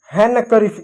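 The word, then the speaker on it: handkerchief: तो यहां पर क्या डी साइलेंट रहा हैंड हैंनक करीफ इसको हैं करीफ बोल। इसको हैंडन नहीं बोलेंगे। इसको हैंनक करीफ बोलेंगे। यहां पर डी साइलेंट रहा।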